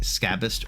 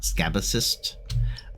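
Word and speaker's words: Scabyst: I know it is pronounced like Scabist or Scabist and not Scabicist.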